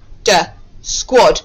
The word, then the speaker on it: squad: my s oh yes after the quest sound the letter a makes the short o sound so let's read that again squad my squad r that